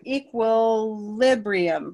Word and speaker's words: equilibrium: So we have equilibrium, right?